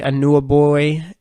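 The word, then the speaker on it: Anunoby: two points 6 rebounds shot over 5 OG and knew a boy and that's how you pronounce his last name had 5 points when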